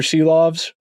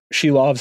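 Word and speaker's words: Silovs: all been eliminated Arthur shoves sheaves I should say excuse me I want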